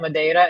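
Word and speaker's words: Madeira: So you were talking about Mada and Nazarees.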